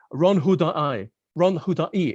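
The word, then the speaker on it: Ron Huldai: Ron Hudai is how you pronounce it, actually.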